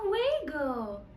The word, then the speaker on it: juego: A juego.